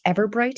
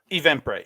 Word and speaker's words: Eventbrite: page and go to their, I think it's Everbright is how it's said, Eventbrite? Eventbrite, yeah.